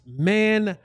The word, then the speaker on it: Mando: It's pronounced Mando.